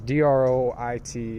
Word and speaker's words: droit: It looks like droit, but it is French. It's droit and droit, and it means a double right, and it means a property.